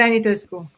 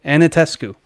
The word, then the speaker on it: Anitescu: Anitescu. And there's an extra syllable, Anitescu. Totally phonetic. Romanian is totally phonetic.